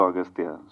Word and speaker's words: Aghathiyaa: in the film uh your name is pronounced in different ways austa yeah in both ways it is pronounced it yeah it's aatya and also austa so I don't know